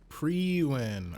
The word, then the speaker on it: Priwen: Priwen. All right, now we actually know how to pronounce it.